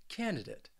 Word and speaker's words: candidate: be honest with you I think there are quite a few people out there that kind of just eliminate that D even though the word it does have that D sound candidate candidate also